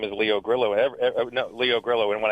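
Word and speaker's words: Carrillo: Does it have a You know, in in Southern California here, if you put two L's together, they're silent. When I first came out here, I said, "My name is Leo Grill."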